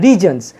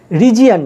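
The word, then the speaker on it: regions: তারপরে দেখো বাকি অংশটুকুর মধ্যে সাবজেক্ট হচ্ছে উপজাতি এলাকাগুলি, কী হবে দ্য ট্রাইবাল রিজনস, দেখো এর উচ্চারণটা হবে রিজনস, রিজিয়ান নয়।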